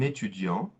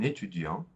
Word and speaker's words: étudiant: Another example is un étudiant, a student, un étudiant will become, notice that we don't pronounce the T at the end, un étudiant will become une étudiante, une étudiante.